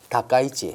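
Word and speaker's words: 高市: 다케이치가 아니고 다카이치 그리고 다카이치 다카이치 예, 다카이치 발음이 어렵습니다.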